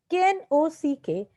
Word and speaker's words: knock: Knock, knock. So the silent letter is K.